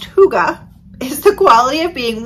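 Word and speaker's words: hygge: So Huga, pronounced Huga, is the quality of being warm and comfortable that gives a feeling of happiness.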